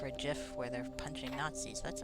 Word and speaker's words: GIF: Like any gif or gif where they're punching Nazis.